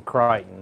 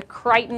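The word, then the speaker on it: Creighton: It's the Crichton Leprechaun. Which is spelled C-R-E-I-G-H-T-O-N.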